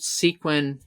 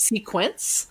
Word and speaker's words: sequin: Those e-commerce websites, if you search gold sequin dress, jacket, coat, and sometimes you have to misspell sequin because people call it sequence.